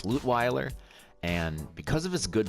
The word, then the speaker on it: Lutweiler: The only one that I haven't been doing a good job on is Lutweiler. It's not actually pronounced Lutweiler because he's not actually German. He's Canadian, so it's Lutweiler.